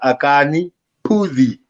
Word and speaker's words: Akani Phuzi: So my name is Akani Phuzi. I was gonna Akani.